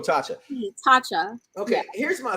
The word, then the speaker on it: Tasha: Because I keep wanting to say Taka. What's it again? Tasha. That's her name is really Tasha? It's like Tasha. It's okay, like that's a weird name to spell Tasha.